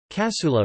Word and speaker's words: Cassoeula: Cassoeula, pronounced ca-s-o-stroke-la, sometimes Italianized Cassoeula or Cassoeula, Italian word for trowel.